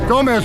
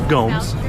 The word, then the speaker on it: Gomes: Gomez, would you like some case law? Rebar. Yes, sir. Please stop mispronouncing my name. It's Gomes, okay?